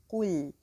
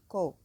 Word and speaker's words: قل: So the word قل, the qaf is heavy and the lam is light. So قل. So I have to say قو, not ko.